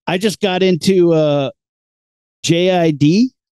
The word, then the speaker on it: JID: I was like, I just got into JID. That's pronounced Jid. That's what I think it's pronounced too, but I don't know how this guy says his name, but he's got some good hip hops.